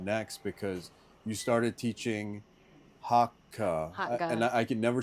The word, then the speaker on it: Hakka: I'm like, it's in the back of your throat. Like, that's how you say Hakka.